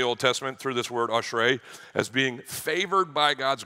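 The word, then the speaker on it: אשרי: It's pronounced ashrei, ashrei.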